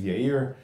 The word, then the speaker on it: Yair: So my name is Yair. Usually I have a picture of an ear there for the pronunciation, but I'm sure everyone in this room can pronounce it.